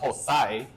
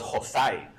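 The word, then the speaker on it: José: heard my name pronounced Hoozay, because I spell it Hoozay on social media. The joke is it's Jose, but in English, Jose. But in El Salvador, I was Hoozay.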